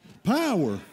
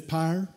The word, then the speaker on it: power: Power. What it? All you people with them fans, it's pyre, pyre.